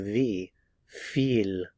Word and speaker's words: wie viel: the pronunciation of the w V and the pronunciation of the V feel feel V how many V Vila again notice